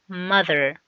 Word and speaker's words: mother: بنطلع لساننا حاجة بسيطة قوي واحنا بننطق التي مع الاتش، لان التي والاتش make sound ذ. mother.